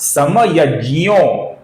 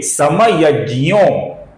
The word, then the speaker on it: समयज्ञो: किंतु ये दोनों उच्चारण संस्कृत के दृष्टिकोण से सही नहीं है दोस्तों।